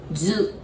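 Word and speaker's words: づ: And that's, you might almost want to say D-U, do, but it pronounces zu, Z-U, zu.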